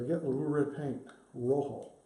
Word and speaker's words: rojo: Rojo. Rhymes with ho-ho.